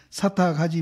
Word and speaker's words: 사탁: 육조 스님 주는 부처님이 말씀하사되 허공이 가가 있는가 없는가 해서 가히 사탁하지 못함이니 탁이라고 읽어야 되죠. 이때는 네. 사탁하지 못함이니 보살의 무주상 보시해서 얻은 바 공덕도 또한 허공과 같아서 가히 탁량하지 못해서 변제가 가가 없나니라.